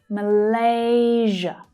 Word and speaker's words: Malaysia: The second syllable there is the stressed one, Malaysia. The other two are unstressed syllables, so they reduce. And just like Indonesia, you'll hear the zh consonant sound, zh, as in vision.